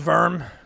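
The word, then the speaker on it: Wurm: is basically um uh it's called verm but it's spelled Wu RM and that was like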